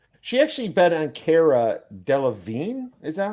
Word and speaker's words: Cara Delevingne: She actually bet on Cara Delevingne. Is that how you say it? Yeah, Cara Delevingne.